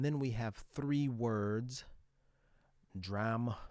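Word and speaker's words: drachm: He's talking about words that have similar final salabic pronunciations uh but are spelled differently. Notice D R A C H M P H L E G M T H U M B all end with the final M sound and none of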